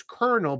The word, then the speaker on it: kernel: So colonel, also when you're eating corn, one piece of corn is also pronounced as kernel, but that's spelled K-E-R-N-E-L.